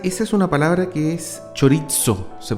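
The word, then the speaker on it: χωρίζω: Sí, esa es una palabra que es chorizo, se pronuncia.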